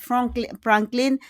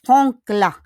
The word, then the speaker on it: Franklin: Franklin Roosevelt is not Franklin, but is Frankla. Lo en do lin Franklin, it will become Frankla.